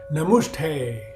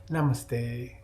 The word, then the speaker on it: namaste: if your yoga teacher welcomes you with a namushtay and you hang back after class to correct the pronunciation hi excuse me it's namaste thank you you might be